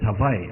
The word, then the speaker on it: Hawaii: went to Hawaii Chris I didn't know how to say it Hawaii or Havi so I I found a guy in a flowered shirt I said how do you say it Hawaii or Havi he said it's Havi I said thank you